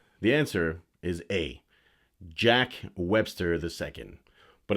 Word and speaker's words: Jacques: the answer is a jack webster ii but it's not just jack it's spelt like jacques jacques left styles all